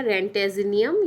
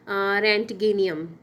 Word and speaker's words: Roentgenium: यदि 111 है तो इसका IUPAC नेम होगा रेंटेजिनियम या फिर रेंटगेनियम। ठीक है, अब जो भी प्रोनाउंस करें, इसकी स्पेलिंग है ROENTGENIUM।